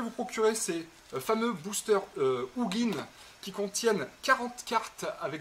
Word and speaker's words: Ugin: de soigner le dragon ugin ugin en Français les Anglais prononcent ugin ce qui va avoir